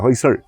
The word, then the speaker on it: Hoysala: यह वह शब्द है होयसड़। तो अंग्रेजी में तो एल लिखते हैं, परंतु जब उसका उच्चारण करते हैं तो एल नहीं रहता, होयसड़ ऐसा इस प्रकार का उच्चारण इसमें आता है।